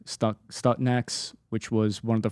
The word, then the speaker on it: Stuxnet: Is that how it's pronounced? S-T-U-X? S-T-U-X? Net.